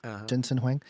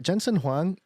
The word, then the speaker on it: Jensen Huang: Jensen Huang.